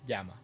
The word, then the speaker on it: llama: Yama Llama Llama yeah llama properly pronounced is Yama okay that's the name